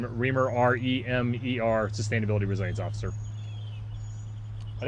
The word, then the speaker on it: Remer: I know you said it quickly, but can you say your full name and spell it out? Sure, last name Remer, R-E-M-E-R, Sustainability Resilience Officer.